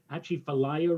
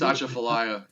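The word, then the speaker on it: Atchafalaya: effect for the mouth i hope i pronounce this correctly for the mouth of the achifelaya river i think it's asha fellaia yeah and to uh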